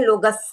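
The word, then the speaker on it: लोगस्स: तो वैसा है और जब डबल अक्षर होते हैं तब आपको ध्यान रखना है कि डबल अक्षर है मतलब उसके पहले के अक्षर पे प्रेशर आएगा तस जैसे हम बोलते हैं लोगस मैंने बहुतों के मुंह से सुना लोगस की पार्टी लोगस नहीं है लोगस है तो हमको लोगस बोलना है तब हम लिखेंगे तब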